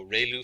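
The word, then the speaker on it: ReLU: We have the ru is pronounced like ray the ray of from the sun and lu like a name. So ru function.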